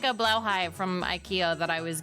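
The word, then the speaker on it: Blåhaj: It's Blauhai. Is it? Blauhai. I was told it's Blauhai. Oh, It's okay. pronounced I know. Blahaj.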